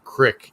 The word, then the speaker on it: creek: they say the word crick, even when they spell it out. And sometimes people say, no, Tom, it's crick, not creek. I get it. I do. It's what we say around here, but I just can't